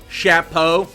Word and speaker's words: chapeau: it must be the chapeau julian am i saying that perfectly chapeau that's how they say it right shapo now i feel like